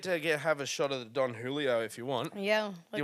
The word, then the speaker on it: Don Julio: just for the listeners I've been calling it Don Julio the whole time it's actually pronounced Don Julio but I'm gonna stick with Don Julio because it sounds cooler okay so here's that's